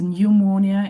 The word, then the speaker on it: pneumonia: And we we met the first word which interested me that is pneumonia. And it was uh read correct by Fuzair. Please focus on this word because we're going to practice silent P today a bit late after our class.